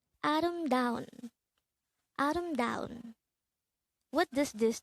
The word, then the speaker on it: 아름다운: angle word number 245 this is pronounced as a four-syllable word the first syllable is a second syllable is third syllable is da and the fourth syllable is pronounce it with me adam down adam the korean word